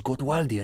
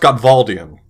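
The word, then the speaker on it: Gottwaldian: nearly as bad as godwaldi and critical theory you fell right in my trap it's pronounced gotvaldian idiots makes you want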